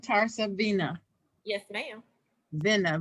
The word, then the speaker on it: TarsaVena: Spell it for us. which is. TarsaVena, TarsaVena. You can find me on all social media with that name, either one of them. Okay. TarsaVena.